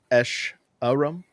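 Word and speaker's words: Escharum: I said the name wrong. It's Esh Arum, and it's the brute from the last year's gameplay demo.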